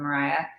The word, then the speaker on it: Moriah: yeah yeah do that maybe i should still have like the line over the o because it's still a long o little squiggly there that's